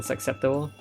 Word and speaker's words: susceptible: Do you pronounce the C in susceptible? You don't, right? Susceptible to. Oh, to see it's pronounced as an S.